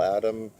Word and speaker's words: Bill Adam: been doing the Bill Adams routines and the Bill Adam routine. I always like to pronounce his name with an S.